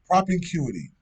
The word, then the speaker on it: propinquity: Propicuity? Propinquity? Is an N in there? Prop in, like propping. Propinquity.